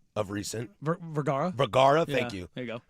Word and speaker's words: Vergara: I heard Tom's braids was Stupin Sofia Varga of recent. Vergara. Thank you. There you go. I always say that name wrong.